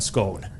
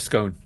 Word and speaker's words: scone: possible as well yeah excellent pronunciation of scone I think we call it scone do you call it SC SC scone yeah but that might be a North sou divide thing anytime you